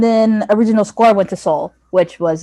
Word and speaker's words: Soul: And then original score went to Soul, which was not surprising. Yeah, love that. This is when Tracy Morgan pronounced it Sowell. Oh my god. Like he was like Sowell.